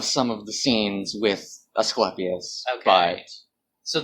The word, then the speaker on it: Asclepius: Of some of the scenes with Asclepius. Okay. But so that it is pronounced Asclepius. At least according to the voice director of this show.